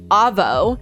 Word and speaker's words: Avo: Australia in their country when you say AVO it's a it spelled a vo in their country AVO would be pronounced Avvo which is also short